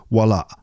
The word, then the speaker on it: Walaa: There's a little glottal stop at the end of the word. Walaa.